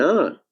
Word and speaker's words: hour: But when we look at the phrase an hour, though the word R starts with H, but H is silent, so we are actually starting with the vowel sound R.